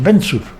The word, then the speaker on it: Benčur: CEFAM que se llama Mateo Benkur, se le dice acá en castellano, pero el apellido pronunciado es Benčur, Benčur, que es eslovaco, casado con una croata,